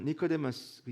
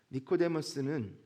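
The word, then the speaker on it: Νικόδημος: 그의 이름이 무엇입니까 니고데모네 헬라어 니코데무스 영어로도 비슷한 발음인데 니코데무스 니케는 승리라는 단어와 데모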